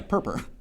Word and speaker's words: Perper: Perper. What? Uh, PRPR. Oh, yeah. Purp.